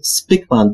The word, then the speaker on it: Spykman: notatkę w nawiasie, że to nazwisko wypowiada się Spikeman, ponieważ facet jest Holendrem i w ten sposób należy to nazwisko wymawiać.